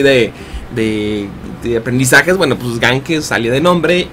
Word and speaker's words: Ganque: rollo dije Bueno pues Gan que suena como una mezcla entre alemán e italiano que era idias que